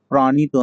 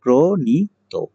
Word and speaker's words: প্রণীত: আরো একটি লক্ষণীয় বিষয়, যদি শব্দের শুরুতে র ফলা থাকে তাহলে সেই প্রথম শব্দের উচ্চারণ কিন্তু ওকারান্ত হয়ে যায়। এই কারণে এটার উচ্চারণ প্রণীত নয়, এটার উচ্চারণ হবে প্রণীত। আচ্ছা, পরের শব্দটি আমরা দেখতে পাচ্ছি দায়িত্ব।